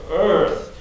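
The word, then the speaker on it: Eaarth: called Earth it's called you have to pronounce it more like you were like Arnold Schwarzenegger it's spelled e a r t so Earth and the the argument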